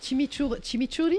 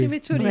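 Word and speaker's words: chimichurri: Tuas fait la gentille la sauce chim chimiouri je prononce je primiour. Oui. Chimichuri. C'est qui est vraiment piquante hein.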